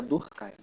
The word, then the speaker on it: Durkheim: O H é mudo, aí junta, fica Durkheim.